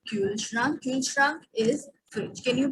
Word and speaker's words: Kühlschrank: Similarly, no specific that Kaulschrank, it will be Kühlschrank.